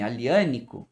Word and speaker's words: Aglianico: como surge o nome aliano e é muito provavelmente que esse nome aliano se escreve agli tenha vindo aquela cção